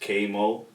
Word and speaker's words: Kvy Moe: So my name is spelled Kvy Moe, but it's actually pronounced Kvy Moe. Okay. And the V is just there for stylization. It's just there, like, throw a little flair on my name or whatever, make me